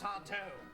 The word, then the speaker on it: Sardo: That's Sardo. No, mister. Accent on the toe.